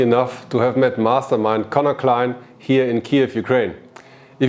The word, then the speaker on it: Conor Clyne: Today I'm here with Conor Clyne. Do you pronounce it correctly? Yeah, Conor Clyne. Yes. It's almost like a German last name, Clyne.